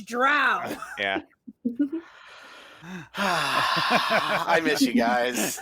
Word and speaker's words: drow: I play Bryn Vrog, a drow rogue assassin fighter combo. Complete. There is an argument, Thad, in some circles of how you pronounce that, whether it's drow or dro. And it's drow.